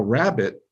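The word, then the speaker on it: rabbet: a little bit now rabbit uh and yes it's pronounced like bunny rabbit but yeah let me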